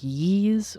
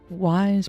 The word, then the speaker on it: Ys: Or is that pronounced like yees? Or... because I admit I'm not familiar with it at all. Ys pronounced like geese. Not one I would have thought of, but...